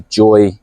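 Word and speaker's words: Joie: is a brilliant pram I believe it's a joy or Joey but it's apparently it's pronounced Joy Jo o i e it's a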